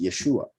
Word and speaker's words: Yeshua: HaMashiach, who would bring the salvation, which is pronounced Yeshua, the salvation of Yahweh.